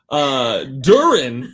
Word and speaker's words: Durin: Durin, which does not in any way rhyme with urine.